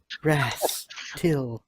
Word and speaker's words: Rastal: Rastal, pronounced Rastil, is one of the oldest gods still worshipped in Avestan.